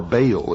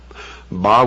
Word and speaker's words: Baal: ancient worship of Baal our bail is some pronounce it bow was the son el